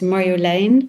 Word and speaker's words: Marjolein: It's It depends uh who's pronouncing it, but um it's a Dutch name that's called um you pronounce it actually as Mario Lane the Dutch way, but uh over the last years I've heard people say Marin Mario.